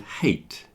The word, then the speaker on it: hate: words like height and hate. So height, you have a fear of heights. That word is pronounced height. If you dislike something, the word is hate.